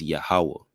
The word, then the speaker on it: Yahawah: But I'll be discussing, how the true pronunciation of the Tetragrammaton is Yahawah.